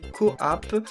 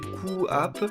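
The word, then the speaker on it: QooApp: il faut se servir d'une application qui s'appelle Coapp. Alors certains d'entre vous en ont déjà parlé dans les commentaires, moi je sais pas comment ça marche parce que j'ai pas d'Android. Ça s'appelle Coapp, ça s'écrit Q-O-O App, donc A2P je crois,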